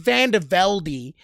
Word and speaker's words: VandeVelde: thing about Chris vandervelde is is yes it's pronounced vandevelde he wanted to make that very clear from